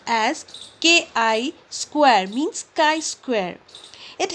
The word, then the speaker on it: chi: the greek symbol chi square and it is pronounced as k i square means chi square it helps in finding